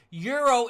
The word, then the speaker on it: Euro: Daniel Watson says, hey dude, euro is pronounced euro. Just saying, my man, from a guy across the pond. But you gotta remember, So I'm German. In Deutschland, we say Euro.